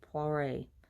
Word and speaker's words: Poiret: We would say Poiret or Poiret, but Poiret, I believe is how he pronounces it in French.